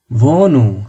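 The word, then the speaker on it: Wohnung: পৃথিবী ইউনিভার্স এটাকে বলা ভল্ট ভট ভট অর্থ ভ্যু ভার ভট অর্থাৎ ভ্য বা মূল্য ভোকে ভোকে অর্থ পিক বা সপ্তাহ ভনু হাটা সাইলেন্ট আমি কিন্তু বারবার বলছি শব্দের মাঝখানে হালে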